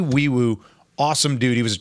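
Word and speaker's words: Nwaiwu: His name is Fabeti Wiiwoo is how you say that name. NW AI WU is how you spell it. But it's Fabi Wiiwoo.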